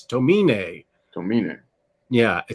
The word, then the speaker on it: Tomine: been told by next imaginat that it is pronounced adrian tomine not tomine that it's uh i think it may have asian roots so it's tomine don't mean it yeah i think um and